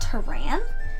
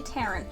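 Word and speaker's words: Taran: read the story I thought the name was pronounced Turan which i think is also a neat way to pronounce it but the author's pronunciation according to his pronunciation guide is actually Terran which I still like the series is kind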